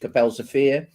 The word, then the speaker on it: Kapelsche Veer: about the battle of capel sofia and that's the correct pronunciation in dutch capell sofia so um uh but